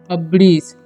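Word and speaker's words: abridge: हैं अब्रिज क्या पढ़ेंगे अब्रिज ओके यहां पर डी साइलेंट है ध्यान रखिएगा आप लोग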